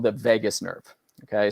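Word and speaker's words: vagus: body that's called the Vegas nerve okay spelled v a s um but pronounced like Las Vegas this is the part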